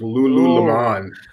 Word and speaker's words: Lululemon: You have the emphasis on the wrong syllable. It's Lululemon.